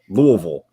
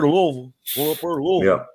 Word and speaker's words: Louisville: so many cities incorrectly anything that has ville in it is vol danville pikeville louisville now i say louisville's